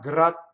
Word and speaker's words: grazie: So thus, egizie, you elongate the E and you don't stop as you do in speech. Egizie, the word grazie, thank you. I can say it like that. When I sing it, I have to sing grazie, not grazie, you see, because then you're left hanging with nothing.